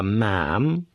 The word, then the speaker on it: ma'am: For my part, I called her ma'am to rhyme with jam.